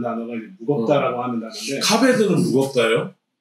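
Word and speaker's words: כָּבֵד: 이제 무겁다라고 하는 단어인데 카베드는 무겁다요? 카바드 그것도 네 그렇죠. 카바드 카베드 네. 카바드라고 하지 않고 카베드라고 하는 건 상태 동사, 형용사들은 이제 카베드라고 발음하는 거예요. 카바드라고 발음해도 됩니다.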